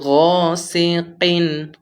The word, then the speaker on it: غاسق: তে গুন্না, ওয়ামিন শাররি গাসিকিন গতে টান হবে একালিফ, ওয়ামিন শাররি গাসিকিন কিন এখানে কফ একটু ধাক্কা দিয়ে কিন, ওয়ামিন শাররি গাসিকিন ইযা